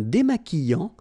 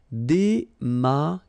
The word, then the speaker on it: démaquillant: So we've got this Q, U, but then U is not pronounced. So you get the sound qui, okay? And then remember, double L after E will give you the sound y, y, y. Démaquillant. Final T not pronounced.